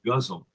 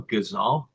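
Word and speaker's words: ghazal: very unfortunate is that the guzzle form in English is pronounced guzzle. Yeah. Because it looks so much more beautifully pronounced in English. G H A Z A L. Gazal. Gazal. But it becomes guzzle.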